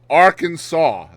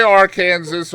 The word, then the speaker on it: Arkansas: So in Arkansas, Arkansas must be pronounced Arkansas. That is on the books. You can't say Arkansas or Arkansas, or it has to be Arkansas.